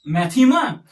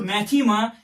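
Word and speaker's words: μάθημα: as Mu Alpha Theta ITA Mu Alpha whose pronunciation is maema so this word mathematics comes from this Greek word maema and its meaning is knowledge what some say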